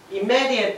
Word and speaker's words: immediately: ど、発音大事です。Immediately って言って注意で